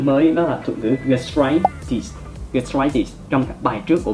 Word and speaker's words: gastritis: Khi mà các bạn phát âm các thuật ngữ kết thúc bằng -itis, các bạn hãy nhấn trọng âm vào -itis, gastritis. Đây là một thuật ngữ mà trọng âm của nó sẽ rơi vào âm tiết đầu tiên của hậu tố gastritis.